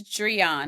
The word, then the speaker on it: Dreion: uh contestant and uh how do you pronounce his name it's Dron I actually learned that